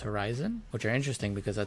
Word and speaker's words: HORI7ON: us and then also I think it's pronounced Horizon which are interesting because